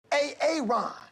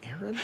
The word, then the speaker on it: Aaron: Ron. Yeah. Why didn't you say it the first time I said Ron? Because it's pronounced Aaron.